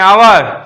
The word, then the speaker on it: hour: आवर।